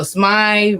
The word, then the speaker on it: Smai: Name of my company is Smai Pharmacy. All right, and how do you spell that again?